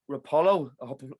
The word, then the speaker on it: Roppolo: joined by another guest uh and arthur debbie rapolo pronounced that correct yes you did thank you for